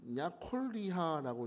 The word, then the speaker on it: 여골리아: 여골리아다 그래. 여골리아. 음. 히브리 원어를 읽어 보면 이건 야콜리하라고 읽어야 돼.